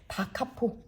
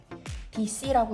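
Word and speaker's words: D.C.: 자, 이거 뭐 워싱턴 DC, 뭐 디스카운트 이런 거 아니고 다카포, 다카포라는 용어를 줄여서 쓴 겁니다. 답은 2번. DC라고 읽으면 안 돼요. DC라고 쓰지만 읽을 때는 DC라고 읽지 않습니다.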